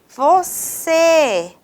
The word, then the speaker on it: você: com mais tonicidade e você se da palavra você é a sílaba mais forte então quando eu tenho